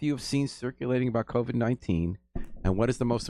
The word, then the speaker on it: COVID: Did I pronounce it right? COVID?